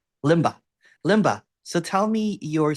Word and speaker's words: Lemba: worries no worries so L tell am I pronouncing your name right uh it's PR sister Limba Limba Limba so tell me your seeking story and